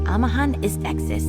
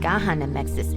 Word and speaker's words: Amahan Istexis: It's Amahan Istexis, not Gahan Amexis ist. Good thing I checked.